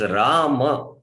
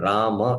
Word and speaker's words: Rama: Not Hare Ram, Hare Ram. We cannot chant 1.5 syllable. Rama it is.